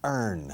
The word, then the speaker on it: earn: Cuando ganas con el sudor de la frente es to earn. De vengar dinero. Ganar dinero. To earn. Earn. Es como learn, aprender quitando la L. Earn. Pero ojo, se pronuncia igual que la palabra urna.